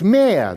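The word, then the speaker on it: mehr: than they themselves consume in german it's mere the german word is m-e-h-r which means more in german it's much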